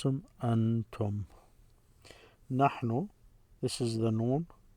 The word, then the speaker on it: أنتم: The way you pronounce them, antum.